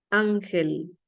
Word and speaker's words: Ángel: Ángel voy a abrir ángel por qué lleva tilde Ángel Ángel es una palabra llana o grave se carga la voz aquí que es en la en la penúltima Ángel lleva tilde porque